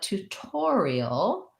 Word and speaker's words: tutorial: an uh well tutor but tutorial changes the syllable stress from the first syllable to the or syllable tutorial and then the t says it's actual aspirated sound because it's at the start of a stressed syllable so that one sounds